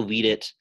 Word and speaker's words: vidi: Video, videri, it's a short I in the present, future, and imperfect forms. And vidi, it turns into a long I.